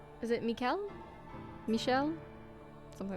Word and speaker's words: Michel: how to say it it is usually pronounced as Michelle Michelle from French Melle Michelle okay I